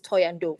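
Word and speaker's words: Thohoyandou: in Toyando, which is, other people call it Venda, but we call it Venda because that's where the Venda people are, but the right way to say it is Toyando, for those of you who did not know.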